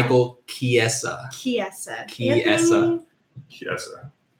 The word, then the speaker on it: Chiesa: Josh, how are you saying Michael's last name so I can write it out phonetically? Michael Chiesa.